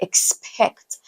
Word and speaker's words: expect: The letter X, for instance, is realized. I'm going to put it on the screen like KS. So you have a word like expect. I'll be expecting you.